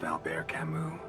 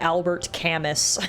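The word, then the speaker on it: Albert Camus: Are you familiar with the works of Alber Camu? I would not have pronounced that Alber Camu. I would have pronounced that Albert Camas and completely butchered uh that pronunciation.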